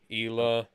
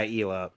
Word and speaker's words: Isla: in june oh okay is it pronounced isla or isla because this one was pronounced isla ila yeah ela that sounds more accurate yeah although that would